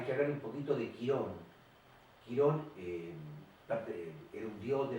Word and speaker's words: Quirón: Bueno, en definitiva, Quirón, como lo conocemos nosotros, Quirón con acento en la O, es el centauro inteligente,